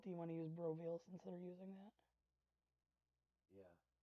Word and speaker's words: BROveal: Like veal, like the food.